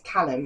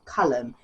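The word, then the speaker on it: Caelum: a project but I was reading it as Callum in my head but it's colum because it's c a e l u m so it's colum colum anyway yes they meet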